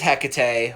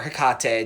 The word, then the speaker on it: Hecate: about her so alright her name is Hecate or Hakata depending on pronounce I say Hecate um you would think